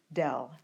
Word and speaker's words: del: of F and the symbol itself is red del de l the directional derivative is the dot